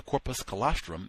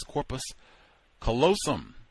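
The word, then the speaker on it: corpus callosum: foods can cause the corpus colostrum midbrain to malfunction and degenerate. The word is corpus colosum. Let me spell it. C A L L O S U M which connects the third and right left hemispheres of the brain.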